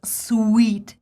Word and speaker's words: suite: get it and actually it's called sweet same as the rooms sweet because it's a piece of music made up of several short parts it's same as the